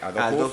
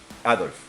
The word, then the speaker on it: Aldous: geopolítica, por ejemplo, tenemos a Brave New World de Aldous Huxley. Huxley. Adolf.